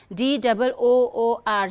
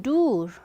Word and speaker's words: door: Okay, D-O-O-R. See, you may feel like since shoe, double O is oo. So if you are not aware of the transcript, you may end up saying door, which is wrong.